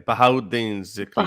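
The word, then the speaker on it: Bahauddin Zakariya: Is it Yeah, no, you were almost there. Bahauddin Zikriya. Bahauddin? Okay. Bahau. So, and guys, Junaid has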